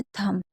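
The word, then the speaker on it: thumb: इसमें B silent रहता है। कभी भी एम और बी साथ में होगा तो बी को नहीं पढ़ेंगे। ये चीज आपको याद रखना है। जैसे थंब हम इसे क्या पढ़ रहे हैं?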